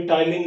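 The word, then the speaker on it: ptyalin: हिंदी में भी टाइलिन लिखा होता है, लेकिन लार के अंदर पाए जाने वाला एंजाइम, पी साइलेंट है, प्रोनाउंसिएशन इसका टाइलिन के नाम से, टाइलिन के हिसाब से किया जाता है 70%।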